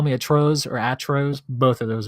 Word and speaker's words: Atroz: So my name actually is atrocious, just in Spanish. Oh. Yeah. So if you really want to know how it's pronounced, you can just go to like Google Translate, type in atrocious, and then look at the Spanish version and hit the listen Atroz.